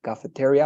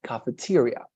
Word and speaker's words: cafeteria: you were pronouncing like cafeteria or something so um remember cafeteria the accent is in tea cafeteria okay so that would